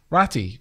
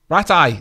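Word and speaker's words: Ratay: Ratty? No. Ratty? No. Rat eye. That's it.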